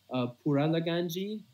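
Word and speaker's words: Pouraliganji: Is Puralaganji. Do you want me to spell it out for you? Yeah. So, Poura. Wait, can you repeat that again? Sorry. Yeah, Poura.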